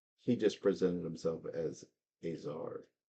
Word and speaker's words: Azar: He just presented himself as Azar. Spell that.